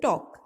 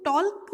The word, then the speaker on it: talk: The next one इज टॉक। TALK, टॉक। इसको टॉल्क नहीं बोलते, इसको बोलते हैं टॉक। TALK, टॉक। इसमें L जो होता है वो साइलेंट होता है, उसकी साउंड नहीं आती।